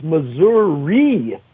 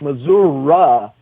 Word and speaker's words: Missouri: It's Missouri when you're in that half of the state. It's Missouri when you're in the Kansas City half of the state.